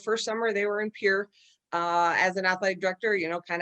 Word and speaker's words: Pierre: It's pronounced Pierre and not Pierre.